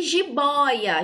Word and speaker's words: jiboia: Jiboia nós temos três sílabas, tá? Trouxe de três sílabas para vocês identificarem a diferença. Jiboia, última sílaba, a penúltima, bó, e a primeira, ji, certo? Penúltima, bó, então ela é boy, ela é uma paroxítona, tá?